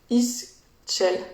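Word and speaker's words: Ixchel: Istchel. Ça s'écrit I-X-C-H-E-L.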